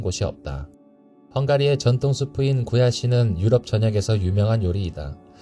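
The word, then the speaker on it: gulyás: 없다 헝가리의 전통 수프인 구야시는 유럽 전역에서 유명한 요리이다 일반적으로 굴라 시라 알려져 있지만 헝가리어 본토 발음은 구야 시이다 라씨가 왜인지 한국에서는 육계장과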